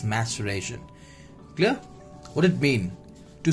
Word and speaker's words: maceration: is maceration it's not maturation it's maturation let me just write it down m a sure then reaction clear this is the pronunciation of this maceration is not maturation it's maceration clear what it mean